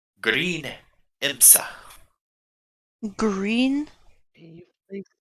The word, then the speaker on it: Imsa: Named she insists to go by the name Green Imsa. Green Can you please spell that?